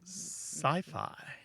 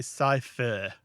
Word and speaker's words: sci-fi: sitcom or slow-mo yeah there is one exception though can you think of it uh sci-fi SciFi yeah we don't say scier we say sci-fi oh I guess